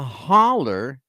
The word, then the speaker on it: hollow: they what they do they called it the holler and I found out why they call it the holler too even though it's spelled Hollow yeah they call it the